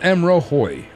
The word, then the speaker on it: M'rohoj: confused so Hoy so just pretend that the J is pronounced as a I okay so it's m rohoi all right cool beans